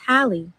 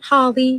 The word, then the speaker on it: Hallie: It's literally just Hallie. It's simple. It's easy. Oh, It's Hallie, not Holly, not Haley. It's Hallie.